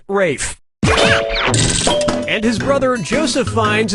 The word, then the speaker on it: Ralph: Player one, yep, Rafe Fine's first name is spelled like Ralph but pronounced Rafe.